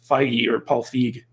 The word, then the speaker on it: Feig: me of the Paul Feig, however you pronounce his name, situation where basically it's not with an A, even though many are tempted to think that. But it's Feig.